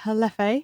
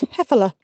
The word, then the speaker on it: Hefela: Hello, Beck here, just jumping in quickly to say it's pronounced Hefela. Hefela. Apologies, Anna Maria. Every time anyone hears me mispronounce it, remember, it's actually Hefela.